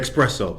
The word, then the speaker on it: espresso: let me get that espresso.